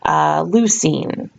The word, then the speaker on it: leucine: cysteine just a note all of these terms like the names of the different nitrogen bases or the names of these amino acids all tender rhyme with the word scene or team so for example you